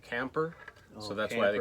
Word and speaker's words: Kemper: I didn't know why his nickname was Motorhome, but apparently in Dutch, Kemper is pronounced more like Camper.